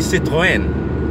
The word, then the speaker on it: Citroën: Very, very easy to pronounce. I would reckon the French cars. Okay, Citroën. A lot of people say Citroën, and that's fine. Citroën. But it's actually Citroën.